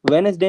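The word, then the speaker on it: Wednesday: बहुत सी चीजें हैं वेडनेसडे में डी साइलेंट हो जाता है बहुत सी चीजें हैं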